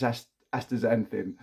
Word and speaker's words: astaxanthin: about this it's called astaxanthin and it's pronounced with a Zed they spelt with an X so Y as astaxanthin so a friend of